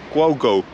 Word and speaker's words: Głogów: Go to Poland, the place in Poland called Głogów, Glasgow, with a, it's pronounced a bit different.